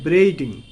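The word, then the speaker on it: braiding: annual মানে হচ্ছে yearly বা বার্ষিক এখানে দেখো ব্রেইডিং ব্রেইডিং উচ্চারণটা কিভাবে করবে তোমরা সিলেবেল ভাগ করে ব্রেইড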